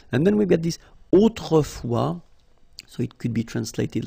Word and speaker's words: autrefois: And then we've got this autrefois, so it could be translated like in olden days or in olden times, okay? Autrefois, so A-U, autrefois, final S not pronounced, okay?